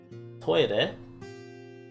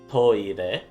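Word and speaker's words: トイレ: You can just say toire, which is just a shortening or sort of using English pronunciation, not English, Japanese pronunciation for the English word for toilet. It's toire.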